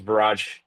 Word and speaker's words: Viraj: struggle to pronounce it, rhymes with garage, begins with a V. My name is Viraj, co-founder of Finch along with Ben.